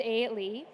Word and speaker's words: Eilidh: all the letters there would suggest it is pronounced a Le I am from the Isle of Aon which